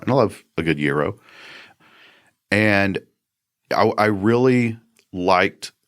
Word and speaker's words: gyro: It's not a gyro. No. No. That gyro is a gyroscope. There you go. Um that's that's more science than food. But stop and go. And if you want to say it in the Greek way, yo.